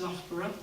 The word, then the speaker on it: Loughborough: we've got an installation in the university that's pronounced loughborough university in the UK they've done a lot